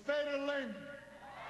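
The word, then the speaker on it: Is Féidir Linn: It's Féidir Linn. Yes, we can. Yes, we can. It's Féidir Linn. It's Féidir Linn. Is that decent pronunciation? It is. That's very good, actually, and which means yes, we can.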